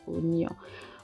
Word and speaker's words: oignon: Excusez-moi pour la prononciation de l'oignon. Je suis tellement habituée à dire oignon, tout le temps je répète oignon, mais c'est oignon, hein? C'est pas oignon, c'est oignon.